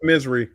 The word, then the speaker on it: Missouri: Pronounced misery, Marty.